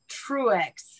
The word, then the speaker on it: Truex: Just like it's spelled. You're kidding. And I noticed you're a she, her. It's like true. Yeah, I'm PC. True. Woke. Okay. I like it. Truex.